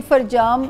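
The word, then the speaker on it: فرجام: जी उसका नाम फरजाम है, वैसे डॉक्यूमेंट्स में मोहम्मद फरजाम है, बट हम प्रोनाउंस फरजाम ही करते हैं।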